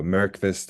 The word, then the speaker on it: Myrqvist: So we tend to use the Y as a vowel here. So Myrqvist is perfectly fine. Um, anyway, so Myrqvist is I would call